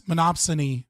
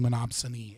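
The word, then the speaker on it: monopsony: My chat is like giving me for saying monopsiny and monopsy instead of monopsin.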